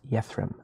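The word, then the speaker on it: Yethrem: is your name real fast my name is yathram I am a keeper of the Seas y-e-t-h-r-e-m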